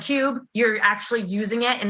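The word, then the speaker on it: Qube: app it's actually a brand new app called cube and that's spelled with a q so q-u-b-e and what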